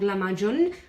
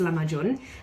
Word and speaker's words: Lahmacun: And it's a Turkish recipe called Lahmacun, or some people call it Lahmacun, but I think it's Lahmacun.